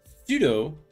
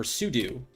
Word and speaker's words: sudo: yeah let's talk about pseudo really quickly so sudo or sudo allows us to become root in a couple